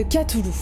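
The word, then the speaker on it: Cthulhu: en particulier l'appel de katoulou alors ça se dit qu'à tout le apparemment je sais ça s'écrit to loup mais c'est ainsi qu'à Toulouse apparemment voilà c'est l'info du jour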